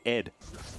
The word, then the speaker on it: ADD: Um, and you're supposed to pronounce it Ed.